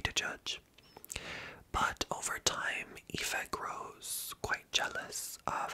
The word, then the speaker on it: Aoife: Ava's sister's name is Aoife, which is Aoife. Aoife is how you pronounce that.